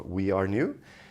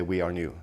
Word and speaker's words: Warenew: group called Warenew, or We Are New. Depends on who you ask, but it's spelled Warenew, and they normally say We Are New.